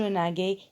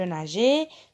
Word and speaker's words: nageais: Et donc G devant A, ça se prononce ga. Donc je ne peux pas dire je naguais.